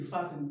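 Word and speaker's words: fasten: Next फासन, फास्टन नहीं, फासन, फासन का मतलब क्या होता है?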